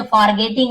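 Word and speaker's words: forgetting: ऐसे पढ़ते हैं, लेकिन ये सब में आर थोड़ा सा साइलेंट होता है, जैसे कि फॉरगेटिंग, देखिए आर को बोल ही नहीं रहा है, जैसे डॉक्टर नहीं बोल, डॉक्टर ऐसे बोल देते हैं, बस वही है, ज्यादा कुछ नहीं है, आप बोल सकते हो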